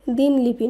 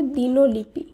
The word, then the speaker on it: দিনলিপি: দয়রস্যি দন্তন্য লয়রস্যি পয়স্যি, এর শুদ্ধ উচ্চারণ হবে দিনলিপি। দিনলিপি নয়, এর শুদ্ধ উচ্চারণ হবে দিনলিপি।